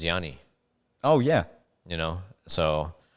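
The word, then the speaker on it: Γιάννης: with uh giannis and the proper way for for people to say his name in greek is is yani oh yeah you know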